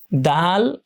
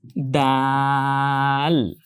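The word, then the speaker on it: دال: দাল এটার similar sound বাংলায় আছে। দ। এইযে বাংলা আমরা দ লিখলাম। দ আর দা। দেখেন সাউন্ড কিন্তু সেম। বর্ণ উচ্চারণে হয়তো পার্থক্য আছে প্রোনাউন্সিয়েশন বাট সাউন্ড একটা আছে যেটা বাংলায় দ পাওয়া যাচ্ছে দ। তো সে বর্ণটা আমরা উচ্চারণ করতে পারি টেনে দাল।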